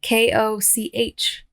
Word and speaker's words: Koch: That's how they pronounce it. Koch.